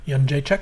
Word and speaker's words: Jędrzejczyk: Jędrzejczyk.